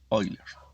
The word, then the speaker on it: Euler: paul euler qué bueno euler se puede pronunciar como oilers de unos años fue